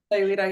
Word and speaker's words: Sayulita: They own a home in, how do you say it, Sayulita, Mexico? Yeah, Sayulita, yeah.